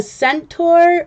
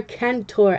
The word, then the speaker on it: centaur: So I don't know, is this pronounced a centaur or a kentaur? I think it's centaur, C-E-N-T-A-U-R, centaur.